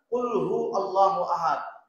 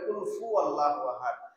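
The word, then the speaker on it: قُلْ هُوَ اللَّهُ أَحَدٌ: শুনতে মুখস্থ হয়ে গেছে, কিন্তু আমাদের শুদ্ধ নাই, উচ্চারণ শুদ্ধ না। কুল হু আল্লাহু আহাদ, ম্যাক্সিমাম মানুষ বলে কুল ফু আল্লাহু আহাদ।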